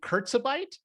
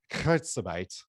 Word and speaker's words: Kurzarbeit: Am I pronouncing this right? Is it Kurzarbeit?